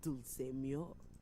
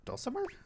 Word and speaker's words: Dulce Mio: in residence with the Dulce Mio. You two have met, I'm assuming? Is that Dulcimer? No. Dulce Mio is completely different pronunciation, spelling, and comportment.